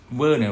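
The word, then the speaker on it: Werner: person okay rena okay you may pronounce it in english vernon right but in in german it's called vienna vienna heisenberg okay vienna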